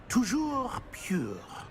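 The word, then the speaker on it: toujours pur: Tujour a pure.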